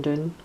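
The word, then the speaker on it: Doune: when I was in Doon. I was going to say up in Doon. Doon is tends to be the way Scottish people pronounce down, but this is actually called Doon, D-O-U-N-E.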